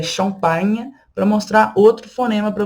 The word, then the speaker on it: champagne: O GN tem o som de nh, nh. Tá vendo como eu estou pronunciando? Nh. Champagne, champagne. O GN tem esse som, tá?